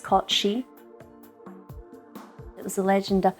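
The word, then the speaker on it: cait sìth: scottish legend of the cat seth or it's pronounced kochi it was a legend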